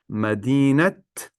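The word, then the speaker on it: مدينة: as the idafa construction, you pronounce the te marbuta as ta. So for example, repeat after me. Madinat Chicago.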